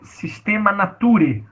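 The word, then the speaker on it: Systema Naturae: Ali é Sistema Nature, a pronúncia correta, tá?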